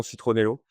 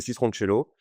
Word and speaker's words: Citroncello: Voilà, par contre, personne sait le prononcer, donc il y a peut-être un petit problème, marketing derrière parce qu'on entend souvent, citroncello, citronello. On a très souvent citronello, donc pour ceux qui nous écoutent, c'est citroncello Mm.